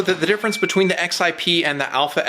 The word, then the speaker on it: XIP: The Double Alpha XIP, yes, that's actually how it's pronounced, Saul told me so, represents the latest